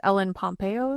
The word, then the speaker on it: Ellen Pompeo: And the main actress, Ellen Pompeo, is that how you say it?